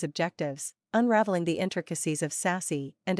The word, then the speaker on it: SASE: new services or applications SASE pronounced sassy is a transformative approach